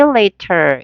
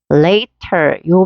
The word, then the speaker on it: later: 이건데 역시 여기 보시면은 later요 발음을 보니까 요렇게 모음과 모음 사이에 t 사운드가 어떻게 됐어요? 부드럽게 들릴 수 있다는 거 리처럼 그래서 하지 말고 later 요렇게 발음해 볼까요? later. 여기를 강하게 읽어.